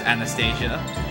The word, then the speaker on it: Anastasia: I mean, like, if you use the American English or UK English, you use Anastasia. We call her Anastasia because of the... Because, oh, we're using the Russian pronunciation. Although the game uses the American one, so...